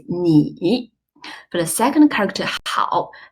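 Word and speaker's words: 你: Chinese cut to need the initial is numb where the final is e so together the whole syllable is me for the second character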